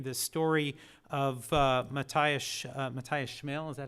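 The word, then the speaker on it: Schmale: The story Matthias Schmel, is that how you pronounce his name?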